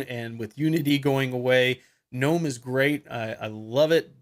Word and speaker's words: GNOME: with unity going away gnome is great I love it but or good gnome if you want to pronounce it that way but it's just not